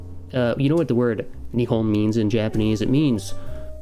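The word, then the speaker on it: 日本: In other words, in Japanese, if we pronounce it, Nihon.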